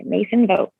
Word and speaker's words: Macyn Vogt: difficult name to spell so i'm going to spell it out for you m-a-c-y-n-v-o-g-t mason vogt that is my instagram wonderful and really stunning